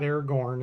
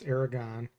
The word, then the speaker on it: Aragon: It's not Aragorn, it's Aragon.